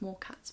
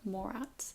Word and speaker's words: Morat: I keep thinking it's pronounced Morcats, but it's Laura Morats.